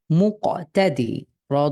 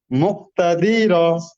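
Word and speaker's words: مقتدر: হুম মুক্তাদি র মুকতাদির, আপনার হরকতের উচ্চারণ টান ছাড়া দ্রুত পড়তে হয়।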